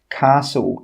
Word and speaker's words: castle: The letter T is not pronounced in many words such as castle and Christmas.